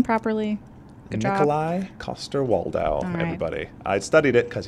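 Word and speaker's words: Coster-Waldau: actor who plays jamie lannister how do you pronounce his name properly koster waldow everybody i studied it because he's my favorite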